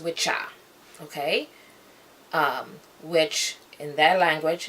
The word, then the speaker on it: wicca: acceptable, the word, and they call it Wicca instead of witcha. Okay? And that old, and it's a noun, and that noun being witcha, it just basically means a male witch, witcha, W-I-C-C-A.